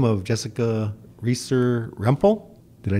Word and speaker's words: Jessica Reesor Rempel: We have a very special guest visiting us, and goes by the name of Jessica Reesor Rempel.